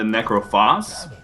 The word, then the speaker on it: Necrophos: uh ildin on the necrophos which i believe is how you pronounce that actually because i think it's the same pronunciation as phosphorus yeah i think something